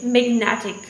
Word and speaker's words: magnetic: And then when we say magnetic, then stress move towards another syllable which is ne, right?